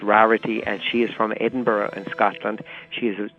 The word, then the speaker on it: Rarity: Would be pronounced Rarity sometimes in Ireland or here, but she pronounces it Rarity, and she is from Edinburgh in Scotland.